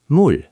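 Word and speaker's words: 물: M is m, u is u, ul is ul, mul.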